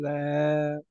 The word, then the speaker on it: castle: காசில் castle.